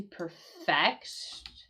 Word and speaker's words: perfect: Uh, and and notice too like how I said that to perfect to perfect the accent here. Um, to perfect something make little changes in order to make something perfect. You see how I changed the accent here and the the meaning change.